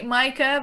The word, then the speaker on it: Maaike: it's actually Micah, but no one can pronounce that.